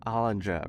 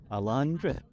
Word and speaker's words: Alondra: I remember talking to hollandra right keep saying her name wrong Alondra Alondra I'm so sorry it